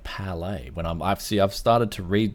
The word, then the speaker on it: Palit: I spoke to Steve on how to pronounce this. He said it was Palit. Like that's how I always pronounced it. I like Palit. But wouldn't there be Palae?